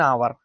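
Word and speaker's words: hour: Okay, चलिए अब देखेंगे नेक्स्ट वर्ड हमारे कुछ हैं, एन आवर। क्या है, एन आवर, यहाँ पे एच आप ऐसे भी कह सकते हैं, एच आपका साइलेंट है, ना।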